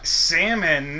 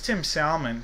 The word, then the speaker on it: Salmon: Tim Salmon. That's actually how as a little kid I got to pronounce it wasn't Salmon.